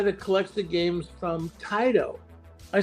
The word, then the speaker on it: Taito: So he said, well, I know a guy that collects the games from Taito. I said, you mean Tato? He said, no, we pronounce it Taito.